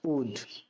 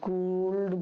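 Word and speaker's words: would: এর জন্য যে ইংরেজি শব্দটি ব্যবহার করা হয় সেটি হল উড। ডবউ ও ইউ এলডি। উড উড মানে হচ্ছে হতাম। এগুলোকে কখনো কুলড বা উড বলবে না। এগুলোর সঠিক উচ্চারণ হচ্ছে কুড। উড।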